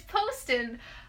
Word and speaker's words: Poston: It's Poston. It's spelt like Poston, Boston, but it's Poston.